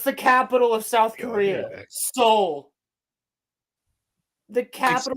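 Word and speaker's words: Seoul: something else but he's from squid game Master Soul Hey Soul they named him after he has no soul dude squid game is a Korean show what's the capital of South Korea Soul the capital spell differently though Capal no it's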